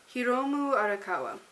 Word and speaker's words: Hiromu Arakawa: Alchemist with by her name's hard to say hiromu arakawa that's how you say it um I think